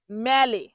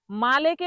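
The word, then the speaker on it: male: খারাপ ইংরেজিতে বলে ব্যাড তাহলে এই মালে মালে উচ্চারণটাকে যখন ভুল বলে তখন কি বলে ম্যালে অনেকে কি বলে ম্যালে মালেকে বলে ম্যালে তহলে এটা মেলে বলা যাবে না। এটার সঠিক উচ্চারণ হবে মালে।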